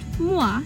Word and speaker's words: moi: Pronounced moi is the French word for me.